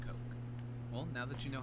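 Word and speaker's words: Koch: Oh, not the soda. K-O-C-H Coke.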